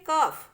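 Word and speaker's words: cough: दूसरा देखिए कफ, कफ में हम F बोल रहे हैं, उसको GH को नहीं बोल रहे हैं।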